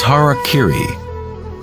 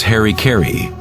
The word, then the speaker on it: harakiri: suicide or seppuku was harakiri was often mispronounced as harry kerry it means to impale